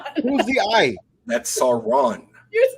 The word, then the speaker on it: Sauron: no you're saying s who's the ey that's Sauron you're saying saon San is the wizard that